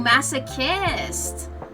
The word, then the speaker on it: masochist: Um the ch is uh pronounced like a K. Oh, masochist.